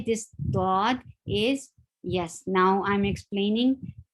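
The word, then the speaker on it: ض: now i'm explaining so how to say this thought it is pronounced by back sides of the tongue um touching the upper touching the upper side gums back side of the back sides of the tongue then they touch the upper sides of the gum then the dot is pronounced very well so the first thing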